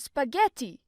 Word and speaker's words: spaghetti: First thing, you have to make the a sound, don't mute it. Make it sound like in the word America. Spa? Yes, just like that. Something with the in, ge, pronounce it like in the word ever.